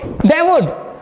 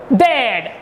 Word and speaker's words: they'd: They would. They'd. The correct sound is they'd. Not they would.